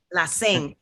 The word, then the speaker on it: Lacén: a special guest today with an accent on the e la sing you were born in